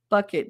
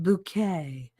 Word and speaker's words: Bucket: choose not to remember bucket no it's pronounced bouquet yep like that [